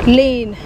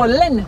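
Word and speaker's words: Lynn: Lane. Lane. How do you spell that? L-Y-N-N. Oh, Len. Okay. Yeah. It's your pronunciation. I thought it was L-E-I-N or something like that.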